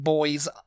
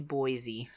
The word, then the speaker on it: Boise: it I was like boys Idaho yeah boys Idaho and it's but it's actually Boise Boise like boisey from Only Fools and Horses it's just boys you know it's it's